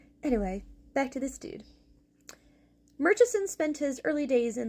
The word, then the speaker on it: Murchison: This is Sir Merchesen. First, the Baron. And yes, I'm going to pronounce the correct way, not the English way.